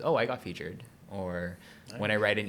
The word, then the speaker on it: FEATR: I also didn't realize that people would call it feeder.